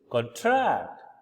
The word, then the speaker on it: contract: what LE lexim mean so the word contract which is a noun again we are focusing on the first syllable that is this particular part which is capitalized which means a written or a spoken agreement especially one concerning employment sales or tency and the other one which is supposed to be a verb where we put stress in the second syllable which is contract which is to decrease